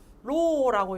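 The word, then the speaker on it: ρ: 모집단에서는 어떻게 상관계수 로라고 읽는다 했다, 그죠? 로.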